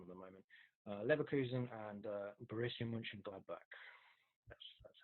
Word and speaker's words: Mönchengladbach: Leverkusen and Borussia Mönchengladbach.